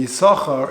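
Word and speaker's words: Issachar: hood is it's interesting isahar is spelled with two sins but yet we will read it he saw her if you actually read it as it's written it should be a sauce car and there are different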